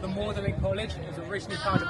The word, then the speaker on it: Magdalene: He chose to have the French pronunciation of a name which is Mlin.